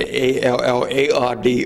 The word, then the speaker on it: Allard: His son Norman, my father, changed it to A-L-L-A-R-D, of which is the original French name. When they came from France, it was spelled L-L-A-R-D, A-L-L-A-R-D. But it's pronounced Allard in French.